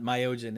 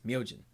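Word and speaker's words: Myojin: in in that so it's not myogen it's myogen we're from the american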